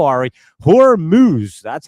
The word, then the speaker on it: Hormuz: Hormuz, that's how you say it.